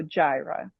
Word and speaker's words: Yara: The Y is like a J, so Gyra.